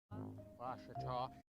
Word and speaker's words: Ouachita: Washita. How would you pronounce it? Washita. It's Ouachita Baptist University. Get it right. It's Washita, people.